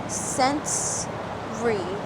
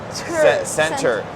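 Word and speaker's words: Centr: Sensory. Center.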